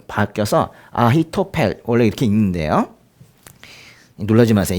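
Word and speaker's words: אחיתופל: 이 아히도벨은요, 이게 아히토펠 원래 이렇게 그렇게 읽는데 이거는 이제 이런 걸 합친 거거든요. 아흐라고 발음하는 히브리어 단어가 있고 타펠이라는 단어가 합쳐진 거예요. 근데 이게 이제 발음이 좀 바뀌어서 아히토펠 원래 이렇게 읽는데요.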